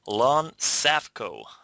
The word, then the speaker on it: Lon Safko: this call so let me introduce to you Lon safco did I pronounce that right yeah very good you're the